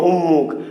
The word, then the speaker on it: উন্মুখ: কিন্তু মনে রাখবে যে আছে নয়ম, কিন্তু উচ্চারণ হবে কি ময়ম, উন্মুখ।